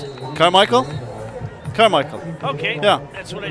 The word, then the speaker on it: Carmichael: How do you pronounce it? Carmichael? Carmichael.